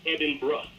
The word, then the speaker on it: Edinburgh: It's pronounced Edinburgh.